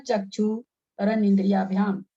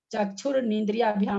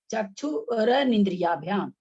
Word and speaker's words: चक्षुरनिंद्रियाभ्याम: चक्षुर नहीं बोलना है, चक्षुर निंद्रियाभ्याम नहीं बोलना है, चक्षुरनिंद्रियाभ्याम, चक्षुरनिंद्रियाभ्याम।